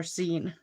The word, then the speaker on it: zine: No, zine or zine. I think it's pronounced like a magazine.